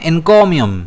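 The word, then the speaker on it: encomium: इसे हम प्रोनाउंस करते हैं इनकोियम। अब इसमें स्ट्रेस जो है वो के पर रहता है।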